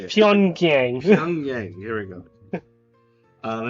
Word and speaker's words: Pyongyang: Pyongyang.